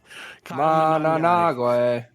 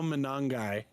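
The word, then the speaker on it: Monangai: Managawe. Say it again for him, Justin. Kyle Manangai.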